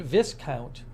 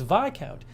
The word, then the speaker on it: Viscount: say VI count and I heard somebody pronounce the other day it was Viscount I was like wow that's how it's pronounced huh so it's VI count v-i-s-c-o-u-n-t Stephen vicount if